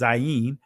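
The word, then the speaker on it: זין: This is the Zion, and the Israeli pronunciation is Zayin, but the numerical value is 7, right?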